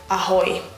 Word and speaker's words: ahoj: And for this we use the word ahoj. Ahoj. Just like a sailor or a pirate would say.